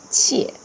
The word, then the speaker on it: 切: But now it pronounced differently. It's with the fourth tone, 切.